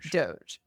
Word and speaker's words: Doge: hopeful I would say like we're talking about Doge is that how you pronounce it Doge yes it's from an internet meme that features